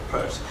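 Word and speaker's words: Peirce: is called Charles Sanders purse p e i r c e most people say Pierce it's actually pronounced purse and this guy was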